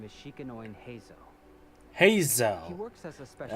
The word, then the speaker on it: Heizo: Heizo. He works as a special That's how you pronounce it.